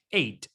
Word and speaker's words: eight: h no se pronuncia eight entonces sin eso entonces que h si la palabra termina en gh la gh mejor de ellos y termina en g ht la gh no se pronuncia pero tenemos el número